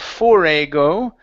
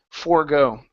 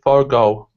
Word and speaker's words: forego: Instead of forego, okay, that E is silent. Forego. Stress at the end. Okay, forego.